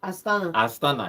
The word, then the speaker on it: Astana: Before we call it a day, they are going to play Astana. Did I pronounce that name well? Astana, yes, Astana.